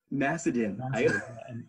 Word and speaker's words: Macedon: Macedon.